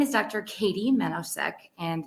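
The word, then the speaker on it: Katy Menousek: did i oh so my name is dr katie menosec and it's spelled well k-a-t-y uh last name is m-e-n-o-u-s-e-k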